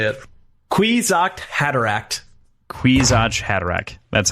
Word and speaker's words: Kwisatz Haderach: Kawasaki Hadarach. If I can see it, I can say it. Kwisatz Haderach.